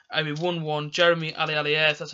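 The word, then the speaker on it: Aliadière: Jeremy Alialier, that's how you pronounce his name.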